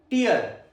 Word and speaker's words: tear: Example, a single tear rolled down her cheek. A single tear rolled down her cheek. Second pronunciation, tear. Tear. Rhymes with hair.